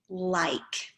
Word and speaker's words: like: me the word like like has a silent e on the end which makes that vowel say its name it says i instead of a so it's like now